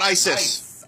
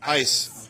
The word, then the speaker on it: ICE: Not ISIS. ICE, but that's how it's pronounced.